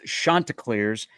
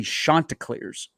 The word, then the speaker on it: Chanticleers: This is pronounced Chanticleers, and their head coach will remind you, do not pronounce their nickname incorrectly.